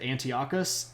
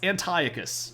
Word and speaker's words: Antiochus: way to go um I still remember the guy who pronounced at Antiochus oh no somebody doesn't know their Greek pronunciations yeah it's Antiochus there we go they use